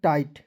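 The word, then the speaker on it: tight: रहिए आर आईजी एसटी राइट टी आईजी एसटी टाइट clear चलिए rule number A की तरफ चलते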